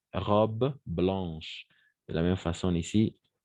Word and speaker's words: blanche: De la même façon ici, A, A-N, on va prononcer comme un on. Blanche. D'accord? Blanche. Et pas blanche, et blanche. D'accord? Ch. C'est le son ici. Ch. Ch. Voilà. Blanche. On ne prononce pas le E à la fin.